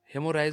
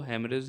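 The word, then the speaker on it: hemorrhage: ठीक है, हेमोराइज बोलिए या हेमरेज बोलिए। हेमरेज इसको अच्छे से, मतलब जो सही प्रोनाउंसिएशन है वो हेमरेज है।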